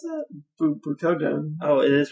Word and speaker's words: Butoden: Butoden. Oh, it is pronounced Butoden? Yeah. It doesn't sound right. Butoden. Oh, fine. It's a long O sound, technically.